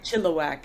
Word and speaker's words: Chilliwack: You got a little chili in there. I think we say Chilliwack. It's got a good rhythm Chilliwack. to it, Chilliwack, yeah. Chilliwack. Triplets. And Chilliwack, Chilliwack, Chilliwack, Chilliwack.